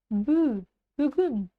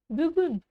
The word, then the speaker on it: бүгін: Бүгін. Бүгін. А по втором слоге представим, что этой палочки с точкой вообще не существует.